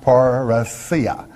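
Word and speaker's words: parrhesia: paracia paraisia it is spelled p-a-r-r-h-e-s-i-a and again pronounced parasia and it means all outspokenness it means frankness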